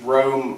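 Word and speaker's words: Rouse: And those of you that study Winchester history will know that Mr. Rowe, or I think that's how it's pronounced, R-O-U-S-E, he was a famous businessman in New York City.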